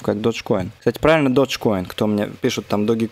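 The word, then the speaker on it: Dogecoin: по 140 процентов как Dodge Coin кстати правильно Dodge Coin кто мне пишет там doge Coin чуваки правильно Да уж так читается Потому что это не от слова собака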